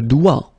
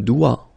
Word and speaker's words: doigt: Le doigt. Le doigt. Okay, so don't be frightened by this G because basically you don't pronounce it and then the final T you don't pronounce it. So the only thing you get to pronounce